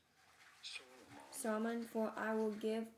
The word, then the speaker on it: Solomon: His name shall be It in British English and in American English, as the two pronunciations are different. In British English, this is normally said as Solomon.